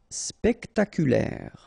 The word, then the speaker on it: spectaculaire: spectaculaire. Okay, so don't insist on the final E.